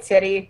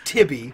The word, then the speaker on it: Tibby: Old titty, yeah. Let's Yep. go. It's Tibby with a B. Like, Tibby.